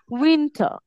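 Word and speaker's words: winter: আমরা উচ্চারণ ঠিক আছে শেষে আর থাকলে আমরা উচ্চারণ করবো না যেমন উইন্টার উইন্টার তারপর কি স্প্রিং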